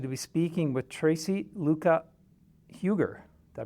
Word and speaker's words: Luca-Huger: I'm pleased actually to be speaking with Tracy Luca Huger. Did I pronounce that correctly?